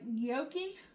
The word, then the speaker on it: gnocchi: We're going to cook off some, let me see if I'm saying it right, gnocchi. It starts with a G in, but the G is silent.